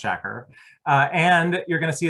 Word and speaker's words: Shakur: look at youtube videos you will find 12 different ways of pronouncing his name it is pronounced shakur and you're going to